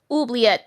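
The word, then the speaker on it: oubliette: Uliet.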